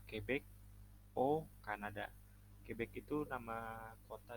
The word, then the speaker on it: au: Yang kedua, j'habite à Quebec au Kanada. Quebec itu nama kota di Kanada yang penduduknya banyak yang menggunakan bahasa Prancis. J'habite à Quebec au Kanada. Karena Kanada itu negara maskulang. Jadi dia AU. Dibacanya O.